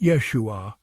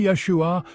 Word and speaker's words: Yeshua: be wondering how to pronounce this powerful name Yeshua it's not as complicated as it might seem phonetically it's pronounced Yeshua with the emphasis on the first syllable try it with me Yeshua feel the weight of the name the history